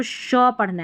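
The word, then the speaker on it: sheep: यहां पे शिप नहीं बोलना। शीप। ये शिप और ये शीप।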